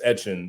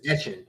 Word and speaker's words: Etienne: Uh they pronounce it as Travis Etienne. Like kind of like uh Devon Achane. If I'm if I'm Etienne. That's his name, Travis Etienne.